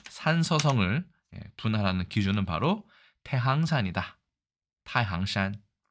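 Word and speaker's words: 太行山: 보통 태행산이라고도 하고 태항산이라고 하는데 이게 발음 중국어로 타이싱산이 아니라 타이항산이기 때문에 아마도 항으로 읽는 것이 더 맞을 것이다 생각이 듭니다만 어쨌든 태행산,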